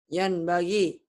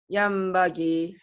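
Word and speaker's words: ينبغي: Yan bagi. Salah baca gitu harusnya. Yam bagi. Yang bagi, matobi tetap panjang ya. Yang bagi. Kenapa harus yang bagi? Karena nun mati bertemu ba. Emang kalau mati ketemu apa hukumnya? Iklab.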